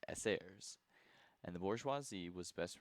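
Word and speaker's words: эсеры: The peasantry was best represented by the socialist revolutionaries which was often abbreviated to SRS which in Russian is pronounced sairs and the bourgeoisi was best represented by the constitutional democrats or cadetses.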